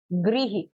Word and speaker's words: गृह: अगर दूसरा हम लिखते हैं इसमें ग री फ, गृह, तो रिही आ रहा है, रिही, गृह, ठीक है। तो री की तरह ही इसको प्रोनाउंस किया जाता है।